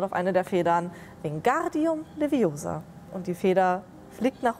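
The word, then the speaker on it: Wingardium Leviosa: es eine Zauberformel wegen guardium niveausa genau die Betonung auf dem gar und auf dem Ohr zeige es Ihnen einmal und sie zaubert auf eine der Federn den guardium Leviosa und die Feder fliegt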